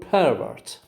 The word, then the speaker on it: pervert: the stress is on the first syllable it's a noun or an adjective but